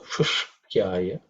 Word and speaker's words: Shushkyaya: In terms of pronunciation, maybe the only area which can be a bit difficult is this 3-letter compound consonant. Ush, ik, and ya. Shushk. So Shushkyaya. That's the only thing which